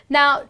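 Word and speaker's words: gnaw: next one is normal now No well here the G is silent you just end up pronouncing it as no and what it means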